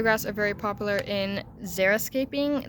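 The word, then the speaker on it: xeriscaping: are very popular in Zer escaping that's spelled with an EXO uh Zer the point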